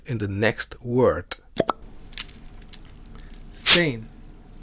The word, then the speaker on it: steen: Double E is pronounced a in a closed syllable like in the example word zape let's practice this sound in the next word stain stain in the second case we also have the